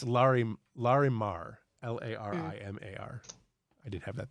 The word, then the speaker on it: Larimar: look like they are oh sorry it's larry larimar l-a-r-i-m-a-r i didn't have that there okay sorry